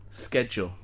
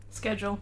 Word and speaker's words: schedule: is an interesting one school is spelled in the same way and we you know it's unanimous we all say school with a with a as if there's a K in it but with schedule it is um schedule